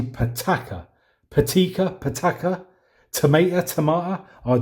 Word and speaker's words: Pitaka: do I've just realized I've been pronouncing it wrong I think I've been saying it's patty Kerr it's actually pitaka petechia pitaka tomato Tamar